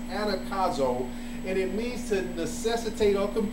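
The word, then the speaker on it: ἀναγκάζω: So I actually looked up the word constrain in the Greek, and the word is pronounced anakazo, and it means to necessitate or compel.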